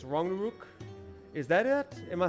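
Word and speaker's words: Ragnarök: Uh Ragnarok, every English person pronounces it wrong. We do say Ragnarok. Uh you never say hard rag. It's more like rang or wrong. Uh so it's Ranguk.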